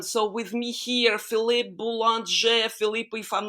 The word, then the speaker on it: Boulanger: It's actually the difficulty is when I'm in the US because I cannot pronounce it Boulanger, which is the French way. Mhm. So I have to say Boulanger.